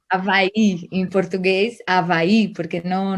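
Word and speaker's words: Hawái: Hawaii con J decimos se escribe con H, pero pronunciamos casi j Hawaii. Hawaii.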